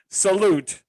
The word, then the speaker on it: Salut: Salute, Emma and Gabe. Wow. Got him. Salut. Salut. Salut. You don't pronounce it.